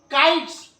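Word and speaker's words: kites: काइट्स, काइट्स नहीं, ज नहीं, काइट्स, पतंगे। तो इस तरह से और भी कई प्रोनाउंसिएशन।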